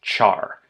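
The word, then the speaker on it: ĉar: It links two separate sentences, and it's pronounced char.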